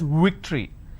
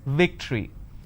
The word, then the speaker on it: victory: word which is victory they pronounce this as victory now remember what i said if you have the letter v you need to bite your lower lip it's victory and if it's w